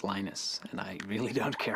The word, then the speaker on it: Linus: exactly your preferred pronunciation when I speak Swedish it's ninis when I speak Finnish it's Lee nose when I speak English its Linus and I really don't